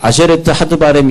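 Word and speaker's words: עשרת הדברים: 그래서 우리는 십계명이라고 말하는데, 히브리 사람들은 이제 안이라는 단어를 쓰고요. 그 다음에 쉰이라는 단어를 쓰고, 그 다음에 레쉬라는 단어를 쓰고, 그 다음에 이렇게 해가지고 타브라는 단어를 쓰는데 이것이 뭐냐면 이응 발음, 그 다음에 시읒 발음, 그 다음에 리을 발음, 그 다음에 티귿 발음. 그래가지고 아쉐레트라고 하는 열이라고 하는 뜻인데 아세레트, 그 다음에 계명은 하드바림 이렇게 됐어요.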